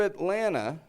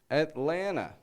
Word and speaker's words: Atlanta: You hear that? Atlanta. I'm not saying Atlanta. Atlanta. Now that first T is gone. We'll get into that later. That's a whole other thing, the first T. But notice, though, still, I'm reducing both T's.